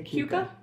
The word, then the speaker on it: Keuka: is that how you say it I say Keuka okay good on the same page because then